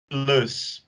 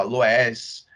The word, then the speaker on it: Loess: A gente pronuncia, na verdade tem 3 pronúncias para essa palavra. Eu chamo de Lus, mas vocês vão ver outras pronúncias porque Lus é a forma que eu aprendi e que geralmente os professores aí da UFRJ, aqui, né, da UFRJ, chamam. Mas tem gente que fala Loess, não tá errado, só